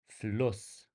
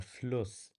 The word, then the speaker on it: Fluss: Fluss. Der Fluss. You can hear that the U sound before it is actually short, and the stress is on the double S. Fluss.